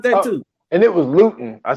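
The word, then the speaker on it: Lewton: And it was Luton. I said it wrong. It's Luton? It's not Lumen.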